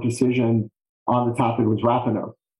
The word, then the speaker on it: Rapanos: The most recent Supreme Court decision on the topic was Rapanos or Rapanos, depending on what Mr. and Mrs. Rapanos say. Their name is how their name is pronounced.